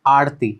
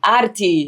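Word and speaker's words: aarti: what is arti sorry how do you say it yeah it's arti arti oh Okay, you see I take the foreign way of saying it but if you go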